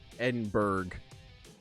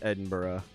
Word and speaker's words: Edinburgh: I've been getting credit with it at work, but um I know that it's not um like it's not pronounced uh Ed Edinburg in Scotland. It's Edinburgh.